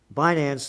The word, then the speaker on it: Binance: street journal front page another front page story binance the world's largest is that the way you pronounce it finance yes finance the world's largest cryptocurrency exchange said it we